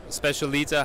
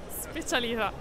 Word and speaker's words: specialità: Specialita, how do you say it really in Italian? Mignon specialita. Specialita.